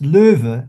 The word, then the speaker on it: Löwe: Loew is basically from the German, where it's Lo with an umlaut. W-E, and that would be pronounced Löwe, and Löwe is the German word for lion.